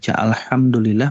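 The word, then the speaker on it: الحمد لله: ada makna yang nantinya akan berubah contoh misalnya alhamdulillah kira-kira di sini ada engak Bapak Ibu yang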